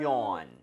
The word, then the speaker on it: yawn: yawn. yawn. yawn. Y-A-W-N. There you go. 자, 스펠링은 다 좀 낯설다. 그쵸, 낯설죠. 여기 R 사운드가 없어요. 그래서 your 이렇게 하는 것이 아니라 그냥 yawn. yawn.